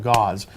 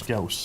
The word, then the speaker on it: Gauss: When they first came out, gauze. I found out later on it was Gauss.